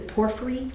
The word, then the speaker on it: porphyry: a mosaic pavement of, I'm thinking this is porphyry. I don't know that I'm pronouncing it correctly.